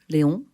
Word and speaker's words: Léon: Oui, Léon, prononcé en français, Art and Stories en anglais.